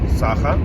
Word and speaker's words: Саха: остановиться на грани Республика Саха Саха Саха Саха на первой а же да по-моему поправьте меня если я ошибаюсь Но по-моему Саха на первой а или Саха Саха да На первой а ударение Я просто вспоминаю меня поправ